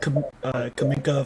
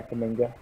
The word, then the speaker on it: Kuminga: Yeah, I probably put Green 3, Edwards 4, Suggs 5, Kaminka 6. Did I pronounce his name? Yeah, Kuminga.